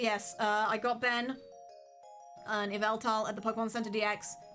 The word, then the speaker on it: Yveltal: Ben wanted an Yveltal, and that is how you pronounce it, Benjamin.